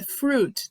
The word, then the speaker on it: fruit: É fruit, tá, gente? Não pronuncia o i, não é fruit. É fruit.